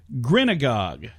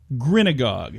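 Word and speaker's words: grinagog: GRI and a GOG grin agog you think you know what grin agog is honey I have no clue rhymes with synagogue but has nothing to do with that it's a noun it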